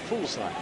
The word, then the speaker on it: Fuglsang: In fact, a Dane told me you have to stop pronouncing the G. Full slack almost.